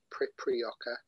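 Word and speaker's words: Priprioca: i'll spell that at p r i p primp r i o c a preprioca i think that's how you pronounce it i'm not 100 sure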